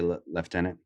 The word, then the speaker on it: lieutenant: where Lieutenant comes from but on Lord of the Rings actually they there's a scene where they're do they say leftenant yeah but they still spell it Lieutenant right I feel like